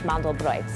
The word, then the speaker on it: mandelbrot: Hey, I'm Danielle, and today I'm gonna show you how to make my Jewish Mandelbrot, or how it's pronounced in Yiddish, Mandelbrot.